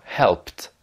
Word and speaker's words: helped: Donc quand ça se terminera par un de ces sons, que, peu, feu, se, che, le ED se prononcera T. Par exemple, hacked ou helped.